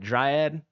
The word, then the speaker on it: Dryad: Another white Dryad.